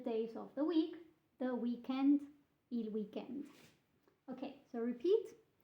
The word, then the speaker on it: weekend: So make sure to pronounce this a bit like an Italian. So extend a bit your D with an, you have to sort of add an E. Weekend. Il weekend to sound more Italian when you say it.